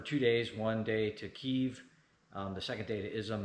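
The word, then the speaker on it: Kyiv: Correct non-rusified pronunciation is Kev, not Kiev.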